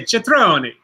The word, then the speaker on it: Cetrone: license, and I said, "Can you tell me how you pronounce that last name?" And he said, Cetrone. Oh, so the che.